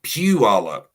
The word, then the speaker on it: Puyallup: Oh, it like saying something that's smelly. Puyallup. Pew.